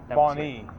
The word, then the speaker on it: Bonny: Bonnie. Bonnie. Okay. Like the female name Bonnie. Yeah. It's just spelled with a Y instead of an IE.